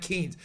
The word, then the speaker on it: Keynes: thing first it was John Maynard Keynes like Keynes just saying I don't mean to sound like